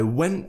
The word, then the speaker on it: went: So we're not pronouncing the T at the end of went. Went to the library. That's because went finishes with a T. And the next word begins with a T. So we're actually just going to pronounce one T, kind of merge them together.